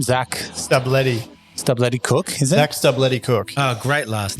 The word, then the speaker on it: Stubblety-Cook: Zac Stubblety-Cook.